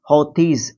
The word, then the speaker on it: Houthis: एक तीसरा वर्ड और आपको देखने को मिलेगा, हौतीज, HOUTHIS, होतीज, ठीक है।